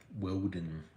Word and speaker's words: Woden: Woden, because that was Charles.